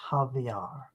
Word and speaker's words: Xavier: nasolar my Francisco Javier his name looks like Xavier but since he is from Brazil it is pronounced Javier Francisco channeled over 400